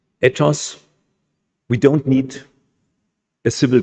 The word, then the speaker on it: ethos: need, it seems, morals, ethos, I pronounce it in the Greek way and not in the English way, ethos.